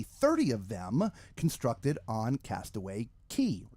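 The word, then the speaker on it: Castaway Cay: of them constructed on Castaway K. Castaway K depending on how you want to pronounce it. I do believe it is called Castaway K.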